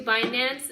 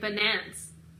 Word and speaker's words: Binance: Do you go to Binance and purchase their... Oh, I was watching CNBC today, and they said this guy was pronouncing it Binance. Yo, it is so not Binance, right?